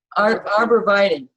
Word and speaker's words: arborvitae: Arborvitae? Arborvitae.